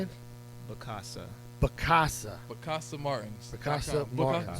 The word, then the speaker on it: Bakasa: Bakasa.